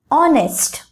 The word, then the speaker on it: honest: For example, honest, honor. In these words, H is silent and instead of that, O sound is pronounced.